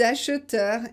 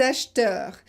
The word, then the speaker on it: acheteur: Les acheteurs. Là, il n'est pas nécessaire de prononcer le E intermédiaire. Vous pouvez dire acheteur, acheteur ou acheteur. En général, quand on parle vite, on dit acheteur.